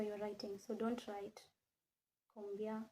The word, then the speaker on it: combien: So don't write combien like this. No. The C avec CD has to be read as S. Okay? We actually did pronunciation some time back. So this is combien.